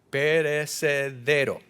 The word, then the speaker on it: perecedero: cual aunque perecedero, gracias, perecedero. Tengo que poner el acento en el lugar correcto.